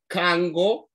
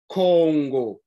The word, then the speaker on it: Congo: Listen to the pronunciation. Kango, Congo. Kango, Congo. Now, if you've been following us, you've realized that sometimes the Bantu dialect interchanges vowels, but the sound remains the same.